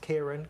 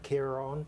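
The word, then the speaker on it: Ciarán: Not Kieran, Kieran. Kieran, because of course it had a father on the second A, which sometimes happens, sometimes doesn't happen, and results in a different pronunciation.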